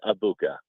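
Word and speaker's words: Egbuka: It is Ibuka. Uh, a Mecha Ibuka. That is how it's pronounced. The G is silent.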